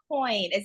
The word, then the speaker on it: Coyne: I'm delighted to welcome our children's book author, Andrea Coyne. Am I pronouncing that right, Andrea?